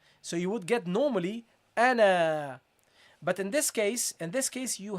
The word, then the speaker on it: أنا: You have to drop the alif. Okay, so you pronounce this as ana, not ana. Don't prolong it.